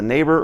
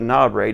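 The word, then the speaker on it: NABRE: American Bible revised Edition also known as the neighbor or the no depending on how you say it and this is considered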